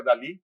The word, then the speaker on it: DALL-E: DALL-E, pero en realidad es como un juego de palabras y se pronuncia Dalí, como Salvador Dalí, y produce imágenes, y